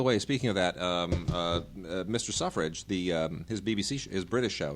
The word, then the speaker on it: Selfridge: Wait, Selfridges or Suffrages? It's called. You pronounce it Suffrage. It's not Selfridge. It's Suffrage, Mr. Suffrage.